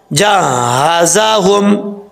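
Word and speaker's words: جهازهم: تو یہ غلط ہے۔ جیم کو ہا سے ملائیں گے، پھر ہا کے اوپر شد ہے، وہ شد کے اوپر جو زبر ہے وہ بھی پڑھا جائے گا۔ کیسے؟ ہجے کر کے بتا دیتا ہوں آپ کو میں۔ جیم ہا زبر جا، ہا زبر ہا جا، زا زبر زا جہازا، ہا میم پیش ہم جہازہم، ولما جہازہم، جہازہم، جہازہم نہیں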